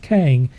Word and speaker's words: Kang: i couldn't read it because of christians it's pronounced kang and we've talked about kang before folks in